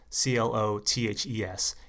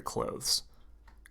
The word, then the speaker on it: clothes: the word close and c-l-o-t-h-e-s it just sounds like close c-l-o-s-e same pronunciation just like if you're closing the door okay so you need